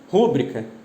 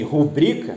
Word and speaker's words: rubrica: Rúbrica não é um substantivo proparoxítono, né? Como não é um substantivo proparoxítono, até porque toda proparoxítono é acentuada, e rubrica, que é a pronúncia correta, não é uma palavra proparoxítona, isso constitui o quê? Um desvio relativo à pronúncia. Um desvio em relação ao quê? A tonicidade da sílaba, né? O certo é rubrica.